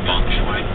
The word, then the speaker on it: Feng Shui: To improve harmony, Stephen Post days, pronounced Feng Shui.